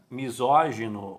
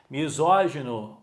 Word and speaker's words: misógino: mas ela consegue ler porque ela sabe que a sílaba tônica é no assento e o timbre aberto lépido misógino mesma coisa Pessoal talvez